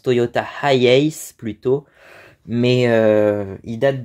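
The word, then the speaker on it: HiAce: début je pensais que ça se prononçait Toyota Yas euh apparemment ça se prononce Toyota highace plutôt mais euh il date de 1980 je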